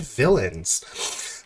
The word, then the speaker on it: Villeins: This game, Lords and Villains. Villains is spelled like Villeins.